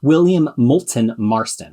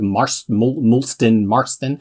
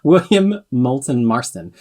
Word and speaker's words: William Moulton Marston: correctly for a change william moulton marston i say like mars mulston marston william moulton marston um he specifically wanted